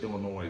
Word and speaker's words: Illinois: Where in Illinois is this? You're so from Nebraska. Illinois, the S is silent.